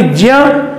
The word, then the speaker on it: ज्ञ: से हुई है, इसलिए इसका उच्चारण भी ज्ञ ही माना जाता है, ज्ञ। अब आप समझिए कि ये ज और य ये दोनों एक ही वर्ग में आते हैं, तालु वर्ग में आते हैं। उच्चारण स्थान के दृष्टिकोण से च वर्ग के हैं, इसलिए इसका उच्चारण स्थान जो है वह तालु और साथ में ये नासिका के सहयोग से किया जाता है, इसलिए इसको ज्ञ बोला जाता है।